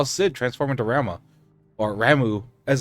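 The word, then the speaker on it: Ramuh: we also saw Sid transform to RMA or ramu as it's pronounced in this one so that's tight uh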